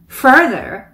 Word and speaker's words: further: Further. 이 단어 발음하기가 쉽지 않죠. R 두 번 들어가 있습니다. Further.